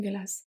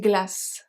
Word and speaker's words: glace: Une glace, so une glace, the final E is not pronounced, is silent, but it helps the C to become a soft C, to be pronounced as a S. Glace. Otherwise, it will be a hard C or it will be silent.